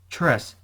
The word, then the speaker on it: tres: dress and was showing off that's right dress tres the rest the rest the rest and so